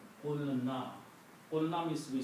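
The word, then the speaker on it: قلنا: So qaf becomes with the sound of this, waw goes away, and the word becomes qulna.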